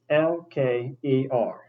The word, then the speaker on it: Pokewalker: Now that's spelled Pokewalker. The the first E is done just like the Poke in Pokemon for obvious reasons.